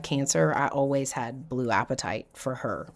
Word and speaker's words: apatite: One is blue apatite. I love apatite, and it's spelled just like hunger, appetite.